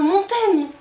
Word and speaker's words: Montaigne: je m'appelle montagne mais il l'écrivait avec un i devant le G pour bien t'aider à prononcer son nom ah et c'est marrant parce qu'aujourd'hui nous l'appelons Montaigne on a préféré changer la prononciation de son nom plutôt que l'orthograhe ah oui oui parce que